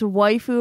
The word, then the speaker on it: waifu: __ ] lame how how would you pronounce them it's waifu and husbando okay I said husbando